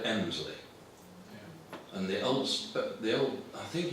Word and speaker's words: Helmsley: The same happens in Helmsley, the locals call it Emsley. And the old, I think in the Domesday Book, Helmsley is given as Elmslac, E-L-M-S-L-A-C.